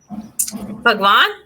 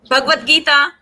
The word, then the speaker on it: Bhagavad Gita: Bhagavad? How do you say it, Pratibha? Bhagwan? What? Bhagavad Gita?